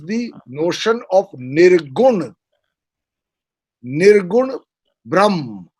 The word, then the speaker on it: Brahman: Nirgun Brahm. It's called Brahm, or as is spelt in English, Brahman.